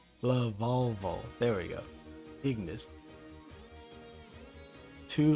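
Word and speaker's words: Lavalval: for sure i've always had a problem time pronouncing this lavallo la volvo love volvo there we go ignis two level three monsters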